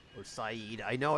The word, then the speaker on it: Said: not going to connect to Port Said or Syed I know it's pronounced Saeed oh what is this hmm um we'll do